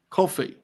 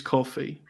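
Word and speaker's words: Ko-fi: Coffee. I think it's meant to be pronounced coffee because the whole thing Coffee.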